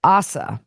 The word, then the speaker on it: Asa: attorney also I've been saying ASA and that's the reason I say that that was my great grandfather's name and almost what I named my son Mason but it's ASA that's how her attorney pronounces it so I apologize for